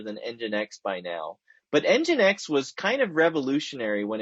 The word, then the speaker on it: nginx: throw this up here nginx that's how you pronounce that weird sequence of uh consonants and one vowel nginx is a web